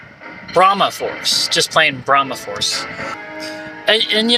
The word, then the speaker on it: Brahma Force: activate the elevator switch i was saying it wrong before though it's uh it's not i think i said bromide force it's actually brahma force just playing brahmaforce and